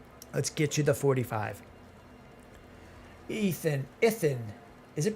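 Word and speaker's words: Ithan: Ethan. Is it pronounced like Ethan? I-T-H-A-N? Is it pronounced the same as Ethan? Ethan? DiLorenzo? Yes, like Ethan.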